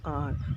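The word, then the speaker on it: hour: So here when we say this an R, so H is silented over here and we just pronounce it as R, O-U-R-R.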